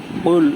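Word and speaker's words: قُلْ: রাহিম আউজুবি রাব্বি ইন্নাস কুল এটা কল কলার হরফ এটাকে জোরে উচ্চারণ করতে হবে এরকম গলার মাঝখান দিয়া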